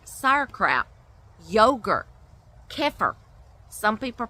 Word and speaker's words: kefir: Fermented foods like sauerkraut, yogurt, kefir. Some people pronounce it kefir, some people pronounce it kefir, I think is how it's supposed to be pronounced, but we shorten it and say kefir.